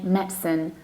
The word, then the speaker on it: medicine: Not really that often medicine, which is also possible, but we usually say medicine. Medicine, you have only two syllables, medicine.